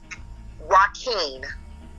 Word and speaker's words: Joaquin: Spell that first name of that attorney again, McCoy. Joaquin.